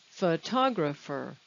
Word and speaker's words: photographer: where is the stress photograph second syllable just like biologist photographer we'll come back to